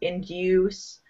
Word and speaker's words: induce: In British English, it's more like in due. I'm trying to spell how it sounds. So it's a long U in the middle, this U, induce. In American, Canadian pronunciation, it's do. So it's like that double O sound, the oo, induce, induce. So yeah, Okay.